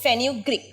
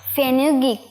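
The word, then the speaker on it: fenugreek: মোহনা কি ফেনুগ্রিক ফেনুগ্রিক মেথির সঠিক উচ্চারণ হচ্ছে ফেনুগ্রিক আরেকবার ফেনুগ্রিক ফেনুগ্রিক আরেকবার বল ফেনুগ্রিক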